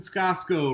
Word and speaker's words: Scasco: And Scasco, rhymes with Costco and Bosco.